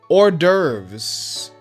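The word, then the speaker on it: hors d'oeuvres: But how do you pronounce it though? Orderves.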